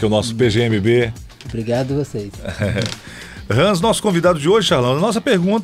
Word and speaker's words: Hans: aí ao nosso querido rans F rans é rans prazer estar aqui com vocês e a pronúncia Hans mesmo não sei não sou alemão